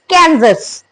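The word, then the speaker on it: Kansas: guys it's कैंस so Yashvi is correct it's कैजस what is the next one guys a Arkan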